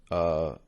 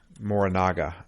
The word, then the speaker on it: Morinaga: And one of the bodyguards, Morigana, how do you pronounce that again? Morinaga. There's a G in there.